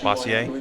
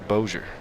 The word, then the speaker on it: Bossier: He lives here in Bossier City, I think. In what's I always thought it was Bossier City, Bossier? but it turns out it's Bossier.